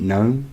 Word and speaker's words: GNOME: KDE is considered heavyweight, but it's not as heavy as some like Deepin or GNOME. Or GNOME. I pronounce it GNOME, as in garden gnome, because that is how it's spelled. Anyway, yeah.